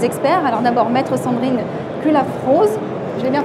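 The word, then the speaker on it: Cullaffroz: Alors d'abord, maître Sandrine Culafrose, je l'ai bien prononcé?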